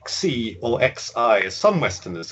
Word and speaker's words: Xi: Xi, which of course is X-I in the spelling. And don't try to say Xi or X-I as some Westerners have made it.